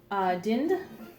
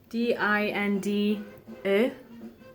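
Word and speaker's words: dinde: And I found Dind. Oh, I hope none of my teachers ever see this video. D-I-N-D-E, not E, E. It's actually D-E, because the I is pronounced like an E.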